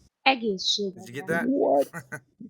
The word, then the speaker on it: egészségedre: Cheers in Hungarian is egészségedre. Did you get that? What? Yeah, sure. Egészség Indra, I guess.